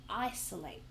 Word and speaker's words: isolate: So the biggest solution is to isolate. Isolate. So that's got three syllables and we stress the first one and it's the verb isolates.